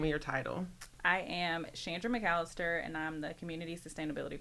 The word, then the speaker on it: Chandra McAllister: I am Shandra Mallister and I'm the community sustainability coordinator for the city.